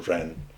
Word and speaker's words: ren: heaven the emperor had to live according to ren sometimes spelled j-e-n because it's pronounced but that's that's the term it sometimes